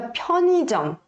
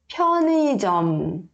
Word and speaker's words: 편의점: Aqui esse 의 não precisa se preocupar de querer ler 의, tá? Você pode ler como se fosse um som de i, tá? E aí fica 편의점, 편의점, tá? Fica mais natural, tá?